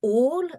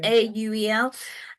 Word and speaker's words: Auel: Yeah, so Clan of the Cave Bear, and I'm going to pronounce his surname wrong, but it's Jean M. Auel, I think is how you pronounce her surname, Auel.